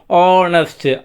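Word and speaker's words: honest: பாப்போம் இஸ்அஹனஸ்ட் வுமன் அவ்வளோதான் சிம்பிள்ஹ வந்து சைலன்ட் ஹனஸ்ட் அவர் அவ்வளோுதான்.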